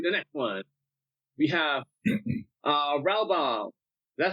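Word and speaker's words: Raubahn: We have Ralbaum. Is that how you pronounce it? Ralbaum. It is today. If we go with the German, Bahn, so Ralbaum.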